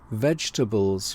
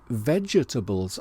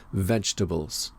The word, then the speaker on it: vegetables: Pronunciation vegetables with the silent first E, and that is widely considered to be correct, although I've noticed that I sometimes say vegetables and I'm not quite sure why, but the correct pronunciation is vegetables.